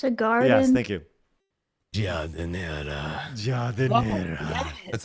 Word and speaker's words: giardiniera: In Italy, this is said as giardiniera.